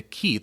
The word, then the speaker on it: qi: the blood and the qi, the life force, literally the steam rising from the rice. That's the translation. Yeah, some folks pronounce it qi as well, so either way.